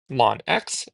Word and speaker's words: ln: to ln x or again produced pronounced as long x and known as the natural logarithm. So again here not known as the natural logarithm. So again all log laws apply to lawn x as they would for